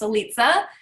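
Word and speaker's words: Litze: liza runs with pizza i know everyone wants to know how that's pronounced eliza it has three different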